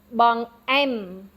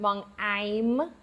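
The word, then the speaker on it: បង្អែម: Dessert is bong, am, And again, the second syllable is accented. Bong em. Bong em. It's a little bit different than I. Remember, it's not I. It's not bong I'm with that Y sound in the middle.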